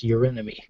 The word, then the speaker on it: Eurynome: So he would have looked into the seals of Eurynome, or however you pronounce that, Eurynome. Eurynomy? Yes, Eurynome.